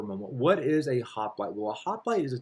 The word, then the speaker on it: hoplite: The hoplite phalanx. I'll spell that for you.